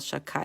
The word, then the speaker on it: Shakai: Instead of reading it the way it's written, I would read Vikel Shakai. So I guess typically we put a K in place of one of the letters.